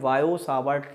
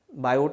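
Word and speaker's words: Biot–Savart: जिसे हम बोलते हैं बायो सावर्ट लॉ, ठीक है, बायो सावर्ट लॉ, बायो सावर्ट लॉ, ठीक है, बायो सावर्ट लॉ, टी यहाँ साइलेंट होता है, बायोट नहीं है, बायो सावर्ट लॉ।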